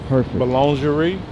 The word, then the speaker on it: boulangerie: Boulangerie.